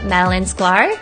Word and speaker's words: Madalyn Sklar: Today, we're going to be talking to Madeline Sklar. That's how you pronounce it, right?